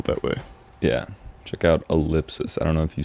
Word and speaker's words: ell!psis: way yeah check out elipsus I don't know if you said we said your name earlier but that's how you say it say it you Ellipsis I know it looks